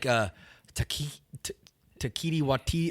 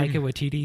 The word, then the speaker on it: Taika Waititi: Yeah, like Taiki Waititi. Oh, how do you say his name? Taika Waititi.